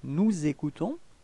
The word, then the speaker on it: nous écoutons: Okay, if we make the liaison, nous écoutons. Repeat, nous écoutons.